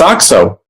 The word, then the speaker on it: OXO: bring it up because i didn't know how to pronounce that brand do you oxo it's oxo oxo why it's a word oxo well it says oxo you could have been pronounced rxo or oxo i wasn't sure you think it's so